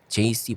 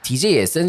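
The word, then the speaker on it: Djesse: 그래서 DJ S인 줄 알았어요. DJ S. DJ 에세. 약간 옛날에 에세 담배 있었거든. 그렇죠. DJ S야? 그랬는데 찾아보니까는 JC라고 읽는데요 이거를. 그러니까 제이콥 콜리어의 이니셜을 딴.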